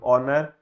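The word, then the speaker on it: honour: एल बना thank full ओनर ओ एनर ओनर का एच जो होता है वो साइलेंट होता है है ना होनर नहीं होता ओनर होता है वैसे नरे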